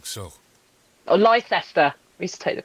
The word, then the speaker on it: Leicester: Yeah, because it's spelled Leicestershire. Yep. Yeah. Leicestershire. Yeah. Thank you for saying so. Or Leicester.